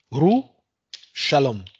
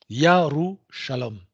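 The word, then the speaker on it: ירושלים: C'est-à-dire Jérusalem, en fait, ce qu'on prononce comme Jérusalem, je ne sais même pas si les Juifs eux-mêmes le savent, enfin les Juifs, ceux qui se prétendent comme tels. En fait, c'est Yerushalayim. Yerushalayim.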